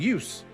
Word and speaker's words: juice: But this has become the case where if you learn Swedish and you learn how Swedish words are supposed to be pronounced, you see the words Juise and you go, Juise? But no, it's supposed to be juice because it's an English word that has been transferred over.